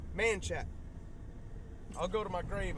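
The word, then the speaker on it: Manchaca: did a lot of stuff but it is pronounced manat I'll go to my grave on that one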